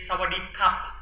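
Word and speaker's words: สวัสดีค่ะ: In Thailand, when men speak, they say "sawadee kap" with the p. ส ว ั ส ด ี Meanwhile, the girls "sawadee ka." ส ว ั ส ด ี I see Men and women, it's different pronunciation. I see So can you try it?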